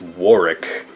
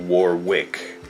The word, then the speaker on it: Warwick: i still have trouble with his name it's warwick is how it's pronounced but it looks like warwick anyway you know who he is right he